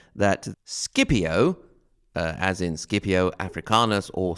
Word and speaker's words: Scipio: Also, there's an interesting note on pronunciation, because we do pronounce Scipio and not Scipio. This is what we call pronuncia latina restituita. I'm not sure what that is called in English. restituted or reconstructed or something like that. And it is supposedly the way the Latins actually pronounced it themselves. That is, k instead of sh, basically.